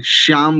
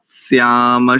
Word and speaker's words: स्याम: शतम प्रब्रवाम शरदः शत मदीनाः श्याम, अधिकांश लोग इसका अशुद्ध उच्चारण करते हैं, श्याम बोलते हैं, श्याम शत मदीनाः श्याम, यहां पर दंत्य सकार है ये ध्यान रखिए, शत मदीनाः श्याम शरदः शतम, यहां पर भी मां करेंगे शतम।